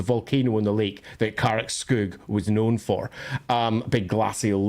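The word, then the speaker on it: Karak Skygg: When I was doing our version of LAWhammer, for example, there's a hold in that Carrick Skug, or Carrick Skyga, as some prefer to pronounce it.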